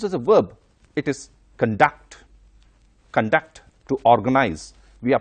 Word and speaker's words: conduct: noun and a verb when it is used as a noun the stress should be on the first syllable like for example conduct it means behavior for